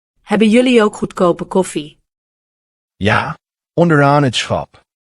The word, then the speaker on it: ja: Ja. As in yes. Pronounced ja.